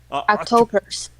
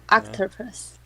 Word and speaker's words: octopus: did i say october october octopus octopus oh octopus yes so a few words that we need to fix the pronunciation on a little bit um octopus how many syllables three now remember and this